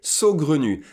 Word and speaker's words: saugrenu: what it means so good on you it's pronounced like this so good on you you need a so Glen you that means a crazy idea and an idea